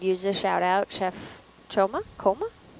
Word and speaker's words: Choma: The chef could use a shout out, Chef Choma? How do you spell that?